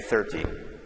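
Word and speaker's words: thirty: here we have 30 so the stress is different so on this number we would say 13 and then the stress here is on the first syllable we say 30 okay so if you're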